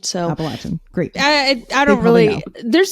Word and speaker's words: Appalachian: those of us who aren't familiar with the Appalachian Trail, or is it Appalachian? People say in different ways, but okay. I've heard a lot of people around the region of the Appalachian Mountains say Appalachian. So Appalachian, great.